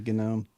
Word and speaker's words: GNOME: they got the GNOME. The GNOME gnome. Yep. Yeah, GNOME. I think is the right way to say it.